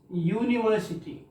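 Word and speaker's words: university: यो तो ववल है, लेकिन इसका जो उच्चारण होता है देखिएगा यूनिवर्सिटी, यूनिवर्सिटी, तो ये या क्या है, यह साउंड तो कॉन्सोनेंट साउंड है ना, इसलिए यो होने के बावजूद यहां ए होगा।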